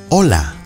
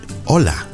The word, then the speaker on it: Hola: Hola. Hello. Remember that you do not pronounce the H. Hola.